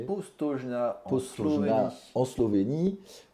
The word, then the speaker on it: Postojna: Ensuite, vas-y, je te laisse prononcer ce nom, parce que je ne sais pas le prononcer. Postojna en Postojna Slovénie.